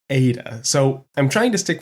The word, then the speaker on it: Ada: that it's pronounced Ada and others saying it's pronounced Atta after doing a quick tally it seems that most messages are saying is pronounced Ada so I'm trying to stick with that alternatively